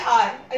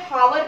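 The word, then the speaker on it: hour: ऐसे देखिए आर, ये हावर तो बोलते नहीं है ना इसको, एस साउंड होता है, एच जो हमारा होता है वो साइलेंट होता है, तो क्या बोलते हैं हम इसको? आर बोलते हैं।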